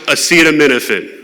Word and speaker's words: acetaminophen: It is pronounced acetaminophen.